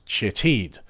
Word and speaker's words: Shithead: had been named Shithead, although it was apparently pronounced Shitheed.